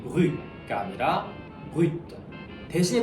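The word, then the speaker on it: brut: 요거 같은 경우에도 이제 뭐 브리라고 불리는 이유가 프랑스어는 기본적으로 자음이 단어 끝에 오게 되면은 발음을 안 해줍니다. 근데 요거 같은 경우에는 또 예외적으로 이제 브루이트 하면 살짝 그 T 발음을 내주는 게 올바른 발음입니다.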